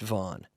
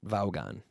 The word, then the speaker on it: Vaughn: ugh a n but in English we just say Vaughn as if it were vo N and that's a common surname in North America I know many people named Vaughn and they're pronounced Vaughn not not Vogon okay so here we